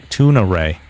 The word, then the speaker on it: Tunare: He also says weird wonky shit like Tuna Ray. Apparently her name is Tunare.